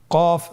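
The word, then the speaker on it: ق: এই হরফটি কিন্তু আপনার মোটা অক্ষর, মোটা হরফ, বলার সময় উচ্চারণ করার সময় অবশ্যই মোটা করে পড়তে হবে।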